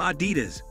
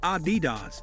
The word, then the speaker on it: Adidas: Even so, despite this being one of the largest sportswear manufacturers, most people pronounce the name Ah-DEE-dus, which is incorrect. Guys stress the second syllable instead of the first AH-dee-dahs is the correct pronunciation.